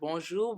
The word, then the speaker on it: bonjour: and this is how we greet each other bonjour bonsoir and i consider you guys like family